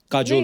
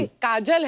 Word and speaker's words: काजोल: बड़ा यूनिक नाम है आपका, काजोल। काजल है ना, but काजल होता है, काजोल, हाँ, मतलब बंगाली में spelling है, काजोल। बंगाली में ऐसे बंगाली में लिखते हैं। ऐसे उसका प्रोनाउंसिएशन है पर सर।